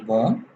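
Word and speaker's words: bomb: आखिर में आ जाए उसका बी खत्म हो जाता है मिसाल के तौर पे बी ओ एम बी बोंग टी ओ एम बी एम बी एंड पे आ रहा है Tong T ओ एम बी ट सीओ एम बी कोम टी एच यू एम बी थम बी नहीं पढ़ रहे थम एनीवे आगे चलते हैं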